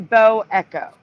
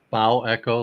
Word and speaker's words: bow echo: Wouldn't that be pronounced bow echo, like the bow of a ship, rather than bow?